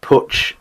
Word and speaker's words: Puig: Puig, or Puch, is a typical Catalan family name.